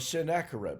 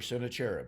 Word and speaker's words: Sennacherib: of the bas-relief of Sennacherib, or Sennacherib, however you wish to pronounce it.